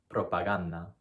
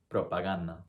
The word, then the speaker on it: propaganda: The correct pronunciation is propaganda, propaganda, okay?